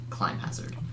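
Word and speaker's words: Climhazzard: say Hazard God it's spelled like clim Hazard pronounced like clim climb Hazard okay when I first used that okay some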